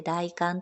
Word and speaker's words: 大寒: がが大観です大きい寒いと書いて大観と読むんですが 1 年で